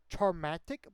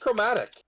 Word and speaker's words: chromatic: Charmatic Bullet? I probably butchered that. It's a CHR. EHR. OMA It's just chromatic. TIC. Oh. OMA. Yeah, that's chromatic, yeah.